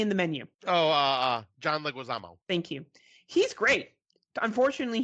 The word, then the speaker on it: Leguizamo: he was recently in the menu oh John Leguizamo thank you he's great unfortunately he's not in